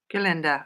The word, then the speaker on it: Gerlinda: Is it Gerlinda? Gerlinda? Is that how I'm supposed to pronounce it, or is it just Gerlind? No, that's fine. Gerlinda.